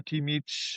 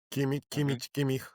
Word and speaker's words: Kimmich: We have first Pavlovic from Bayern, Joshua Kimmich, or Zubimendi, Declan Rice, Mikel Merino.